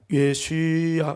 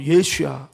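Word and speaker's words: ישוע: 우리는 예수님 하지만 영어는 지저스라고 하고 예 여러분 그 이제 그 원어적인 내용을 설명하고 예슈야 예수야 한번 따라볼까요? 예수야.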